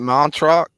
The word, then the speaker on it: Montreux: Montreux.